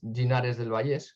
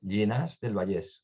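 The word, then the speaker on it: Llinars del Vallès: estamos muy bien perfectamente no es llenar es del vallès que eso sería una mezcla entre catalán y español es yo tampoco lo acaba de pronunciar bien todo es llenas del vallès con ellas llenas de andoain as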